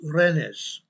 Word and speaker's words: Rennes: I believe this is pronounced Rennes.